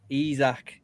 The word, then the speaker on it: Isak: Isak.